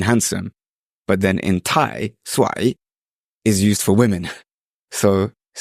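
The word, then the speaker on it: สวย: Doesn't that also, if you pronounce it with the wrong tone, mean cursed? Yeah, I think I just pronounced it with the wrong tone because I said I ignored the tones prior.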